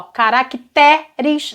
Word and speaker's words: caracteres: E outra, a tonicidade vem pra cá, ó, caracteres, não tem acento gráfico, mas o timbre aqui é aberto e a sílaba forte está aqui.